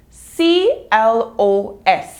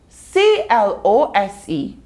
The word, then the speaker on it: close: two various meanings well c-l-o-s-e can mean close which tells us to shut something or it also can be pronounced close as in something that is nearby so we have close